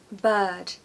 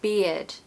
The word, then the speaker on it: bird: many times I've misunderstood a student who's trying to say bird and it sounds like beard you know that men